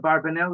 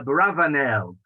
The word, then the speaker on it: Abravanel: is quite well known many have suggested a barbanel is not really the correct uh pronunciation it should be a bravanelle or something similar to that uh the truth is that bravanel is probably more correct that is the